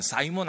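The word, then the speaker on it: Simon: 이 시몬을 영어 발음으로 하면 사이몬 아닙니까?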